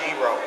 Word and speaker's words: gyro: It's actually pronounced gyro. And gyro is actually Greek.